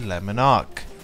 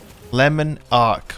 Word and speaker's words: Le Monarque: favorite poisonous bow the lemon arc lemon ark okay not the lemon not the french pronunciation the west yorkshire pronunciation lemon arc all right